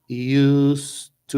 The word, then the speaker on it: used to: do gato aqui é a pronúncia é e US to é com som de s US to us to